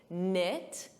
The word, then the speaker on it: knit: Just like night, a night, silent K, knit, silent K.